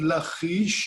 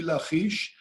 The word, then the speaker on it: Lachish: the place is called lachish or lakeish i know that you cannot pronounce the it's not easy for you to do but the correct pronunciation in hebrew will be lachish and it's one of